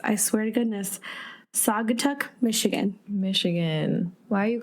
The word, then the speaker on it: Saugatuck: This coffee comes from Uncommon Coffee Roasters, which is a queer-owned coffee roaster in, us in names, I swear to goodness, Saugatuck, Michigan.